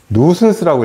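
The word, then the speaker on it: nuisance: 누슨스라고 읽어요. 누슨스.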